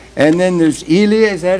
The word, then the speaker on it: Liya: I know we have Natasha maybe you could pronounce your name right and then there's Elia is that how you say it Leah Leah Leah you're totally free to improvise on